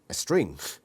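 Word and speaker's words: Estreen: form or natural body estrin pronounced a string a person who can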